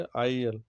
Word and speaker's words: isle: तो यहाँ पे एस का प्रोनाउंसिएशन नहीं करेंगे, ठीक है। इसी तरह से आईलेट, ISLET, ठीक है। इसी तरह से IL, ठीक है, ISLE, ठीक है।